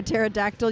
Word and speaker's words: pterodactyl: Do you know why you can't hear a pterodactyl use the restroom? No. Yes, Sirius got that one. The P is silent.